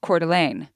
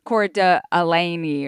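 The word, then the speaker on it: Coeur d'Alene: So like there's a town called Cordelane which in some places might still like might be where you pronounce every single vowel, right? You'd say like cord alaney or something like that.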